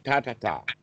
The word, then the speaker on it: Tathata: And Tathata? I just said it. Tatata.